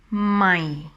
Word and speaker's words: ใหม่: And talking about the tone, this tone is dropping down when you pronounce it, my. So I always say that it sounds like a disappointing tone.